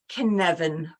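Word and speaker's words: Cynefin: not so straightforward so it's said Canan framework but it's a Welsh word and it's spelled c y n e f i n and it's a sense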